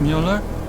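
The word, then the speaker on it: Müller: up version of Burt Mueller it's German from my father he said to always insist on the umlauts otherwise people butcher the pronunciation so often butchered it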